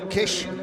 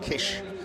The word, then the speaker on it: Kiss: ever since so no Kish it's spelled k i s kiss but it's pronounced Kish so that truck turns